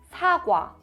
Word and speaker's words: 사과: So here, 오, 아, quickly, 와, 사과. So apple in Korean is 사과.